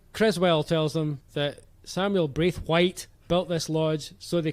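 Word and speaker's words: Braithwhite: guess not um so samuel braith white you all got that you're gonna be hearing that a lot more as it goes on with the second syllable really emphasized brief white you got that guys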